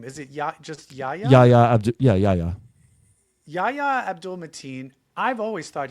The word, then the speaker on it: Yahya: Yahya.